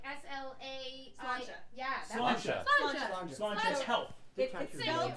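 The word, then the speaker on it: Sláinte: Slancha. Yeah. That one. Slancha. Slancha. Slancha is health. It's spelled Like Slancha.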